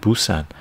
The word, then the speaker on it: Busan: Oh, that's the way we pronounce it, Busan.